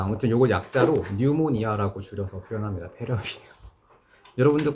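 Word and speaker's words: pneumonia: 감염을 예방하는 것부터 뉴모니아. 피가 무음이에요. 라틴어거든. 뉴모니아라고 읽어요. 폐렴입니다.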